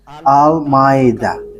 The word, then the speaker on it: Almeida: So the way you write it, Almeida, is as it is pronounced, Almeida.